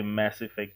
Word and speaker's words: Mass Effect: This guy always says there's no school for pronunciation, but he'll never say mass effect. He has to say a mass effect. And it bothers me every single time I hear you say this, dude. Massah.